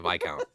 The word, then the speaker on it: viscount: Oh, okay, so viscount.